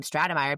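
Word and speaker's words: Stratemeyer: I'm just glad you heard them say the name Stratamire because yeah, from the spelling I would not have I would never have added that middle syllable.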